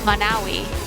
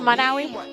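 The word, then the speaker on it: Monowi: Manawi with a population of one.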